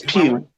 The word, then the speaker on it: Pugh: Is it Pugh, right? It's Pugh.